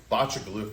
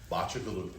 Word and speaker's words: Bacigaluchi: It's Bachalupi is how you pronounce it, right? But it's hard to say, easy to remember because once you remember it, it's What is it? Botcha Galofi.